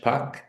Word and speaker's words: Pâques: In French, Pâques. Okay, the S falls out. That's why there's a little circumflex, the hat over the A.